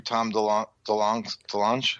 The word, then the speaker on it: Tom DeLonge: And I think that was through Tom DeLonge.